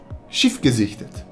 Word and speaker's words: Schiff gesichtet: The phrase for that is Schiff gesichtet. Okay, let's take that apart. Okay, so the SCH might be a bit difficult to say, but you have to